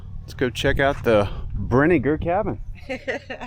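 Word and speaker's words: Brinegar: All right, let's go check out the Brener cabin. I keep telling him I think it's pronounced like vinegar.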